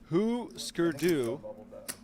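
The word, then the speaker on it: Hüsker Dü: Jeremy pointing out it's pronounced Husker Du.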